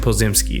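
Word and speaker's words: Podziemski: Brandon posed a mess poses pozimski yeah Brandon pozimski that's how you say his name drive to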